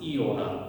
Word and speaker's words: iota: say iota right iota the way we're going to pronounce it is iota with an e sound okay and I'll explain